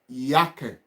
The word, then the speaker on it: Jacke: So that is yake.